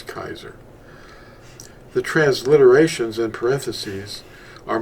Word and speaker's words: Kaiser: The real pronunciation is Kaiser.